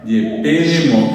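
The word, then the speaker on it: jepemo: Yepemo. El acento está en la segunda E.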